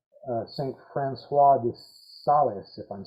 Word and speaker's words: Francis de Sales: Francois de Sales, if I'm saying that right. No, you can just say Francis de Sales. Okay, that's the way it's normally pronounced in English.